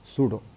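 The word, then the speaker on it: pseudo: सूडो का spelling भी थोड़ा अजीब है, सूडो, सूडो फोर्स मतलब काल्पनिक force, imaginary force, virtual force, जो कहना है कहिए।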